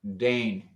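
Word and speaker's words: deign: only five letters and it's pronounced i think dane d-e-g-n d-e-i-g-n d-e-i-g-n without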